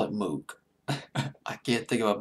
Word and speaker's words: Moog: It was called the, it's Moog, Moog. I'll just call it Moog.